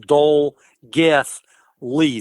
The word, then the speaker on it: Dolgellau: The double L is pronounced like a TH, so it's pronounced Dole Geth Lee. The AU at the end is pronounced E. So 10 miles outside of Dolgethley is the Nannu Estate, and that's spelled Nannau.